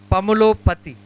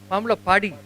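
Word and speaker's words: Pamulapati: Pamulopati. Is it that? Correct, Danamma? Pamulo Padi, not Pati.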